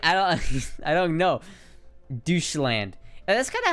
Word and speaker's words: Deutschland: it's like the Dutch it's not Dutch land it's douche land you know it might be I might be totally wrong on that I might be saying that completely wrong and looking like a total ass actually it's pronounced Deutschland I'll have you know